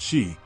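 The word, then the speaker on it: Sidhe: power and Grace reside these are the city pronounced she the noble and otherworldly creatures of Celtic myth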